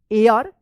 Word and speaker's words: heir: heir, HEIR, क्या होगा, एयर, इसको हेयर मत पढ़िएगा, एयर पढ़ेंगे, एच यहां पे जो है ना साइलेंट रहेगा, ऑफ दिस विलेज।